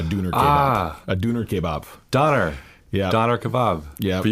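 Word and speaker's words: Döner: And we called ourselves the Dooners. We named ourselves after a sandwich that we ate every day. A Dooner kebab. A Dooner kebab. Doner.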